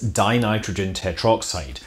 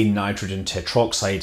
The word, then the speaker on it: dinitrogen tetroxide: of hypergolic oxidizer is dinitrogen tetroxide of course most people that actually use the stuff choose to save a syllable and they say in nitrogen tetroxide instead even though that's not technically correct the molecule consists of